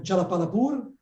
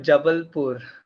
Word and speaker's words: Jabalpur: 10 students here in Jalapalapur. I'm pronouncing well the name of the city. It's actually called Jabalpur. Jabalpur.